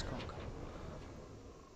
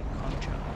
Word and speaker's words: Concha: It is Conca. Sorry if I'm angering those that prefer to say Concha. But I kinda like to pronounce it the Italian way, the Latin way. At least what I think is the Latin pronunciation.